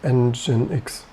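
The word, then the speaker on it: nginx: 18 our german native i always called it and jinx to be honest it would never came to my mind to pronounce this engine x maybe for the fun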